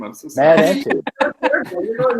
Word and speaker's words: Entin: Matt Entin.